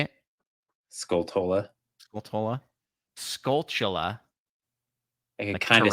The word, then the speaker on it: Skulltula: I always just said Skulta. I don't know why. I just completely skipped half the word.